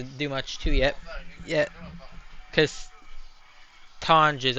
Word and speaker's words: Tonges: Because Tonges, I think his name is pronounced. I just call him Tonks. I like that better. Didn't like Tonges or whatever it's pronounced.